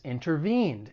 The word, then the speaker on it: intervene: it now for pronunciation the verb has three syllables the stress is on that third syllable intervene one thing I want to point out when it comes to the American accent because I'm from the United States is when the T follows an n Sound especially in unstressed syllables it may allide and people may drop bit so instead of intervene you may hear someone say intervene so just keep that